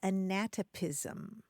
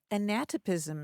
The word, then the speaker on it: anatopism: having to do with place and it is anatopism anatopism anatopism a n a t o p